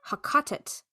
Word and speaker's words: Heqet: The Middle Egyptian pronunciation of the name may have been close to Haqatet, Haqatat, which has been proposed, among other possibilities, as the origin of the name Greek Hecate.